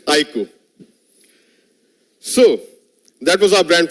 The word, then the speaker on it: iQOO: and on its iku the pronunciation is iku I emphasize again it's iku so that was our